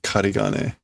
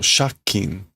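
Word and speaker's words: 借金: Okay, it's not karigane. What is this? How do you pronounce this? Oh, shakin. Of course, it's the own reading.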